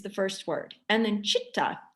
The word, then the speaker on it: chitta: first word and then chitta see it's phonetically a ch sound so c-h-i-t-t-a chitta is mind our mind